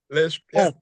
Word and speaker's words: Li: we talked about uh Li am I saying it right Li Li perfect uh so much because